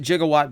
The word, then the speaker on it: gigawatt: and that is the gigawatt mold and I pronounce it jigawatt because that's how they pronounce jigawatt in the movie I think it's a